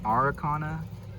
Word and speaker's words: Araucana: And then of course, Cruella the Polish, and it's like an Americana, but it's like Araucana, is how you say it, and that's Hindini,